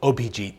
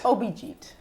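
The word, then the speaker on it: Abhijit: Tell me one more time how you pronounce it in Bengali. Obijit. Obijit.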